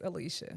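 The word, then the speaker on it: Alycia: these extra extra letters it's Lee I mean it maybe looks like lie but it's Alicia we as a black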